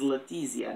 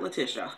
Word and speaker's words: Letizia: look so grassy áthisá she is Italian so I am saying incorrect it is Letizia not latisha I found out I